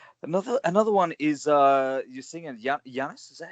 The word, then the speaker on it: Giannis: Another one is you're singing Giannis.